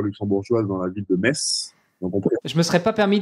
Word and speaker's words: Metz: je suis à mes donc pas Metz comme certains peuvent prononcer c'est bien mes donc j'ai fait l'erreur le premier jour quand je suis arrivé ici on m'a tout de suite repris avec Viger donc c'est mes donc on est donc messin